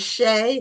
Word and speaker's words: Shea: So I don't know which one is Emily and which one um, is Shay. Is that how it's pronounced? It Shay. is. I'm Shay, and this is Okay, Emily.